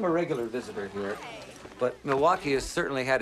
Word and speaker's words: Milwaukee: an Indian name ESP it is actually it's pronounced miliwaki which is Algonquin for the good land I